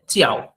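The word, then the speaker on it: 叫: একটা আছে চিয়াও, এটা কিন্তু জে আই বাট উচ্চারণ হবে চি, চিয়াও, সি এর মতো উচ্চারণ হবে, জে আই কিন্তু উচ্চারণ হবে চিয়াও। চিয়াও মানে কল, এটাও কিন্তু নো টোন বা এটা কোনো টোন নাই।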